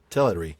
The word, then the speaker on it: Teleri: Yeah, the first syllable is the stressed one, the t e l. But, it is also a Christopher Tolkien manages to get that air in there even though it's not the stressed syllable, and I I can't think of a way as an American to do that without uh faking a British accent.